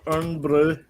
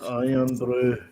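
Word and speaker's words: Irn-Bru: Yeah, the English, the Americans say earn brew. They're like, it's iron brew, not earn brew.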